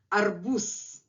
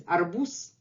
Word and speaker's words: арбуз: So here, arbuz, arbuz.